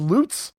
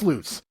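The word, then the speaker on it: Lutz: are headed back to loots or Luts I don't know I've heard it pronounced different ways Barry claims it's loots so just take take it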